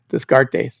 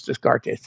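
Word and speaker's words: Descartes: Um I got garbage from a uh an online listener because Renee Renee Deart whose name spelled like Dartes. Disgart is I've often said his name is Dartes.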